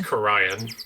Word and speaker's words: Khura'in: It's pronounced Khura'in.